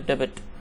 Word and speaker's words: debit: DR indicates debit, not debtor. So some of the guys are pronouncing like debtor. So cash account debtor, furniture account debtor, it is not debtor, it is a debit.